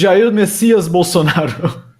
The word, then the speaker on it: Jair Messias Bolsonaro: Yes, it's Jair Messias Bolsonaro.